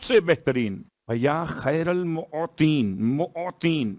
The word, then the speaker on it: معطین: یا خیر المعطین, معطین میم عین توئیں یہ نون معطین موتی.